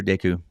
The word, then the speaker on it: Deku: Do you call it Deku or Deku? Deku. Deku? Greg, where do you fall? Yeah, more like Deku as well. Deku? Okay. More like the Deku with actually pronouncing the E.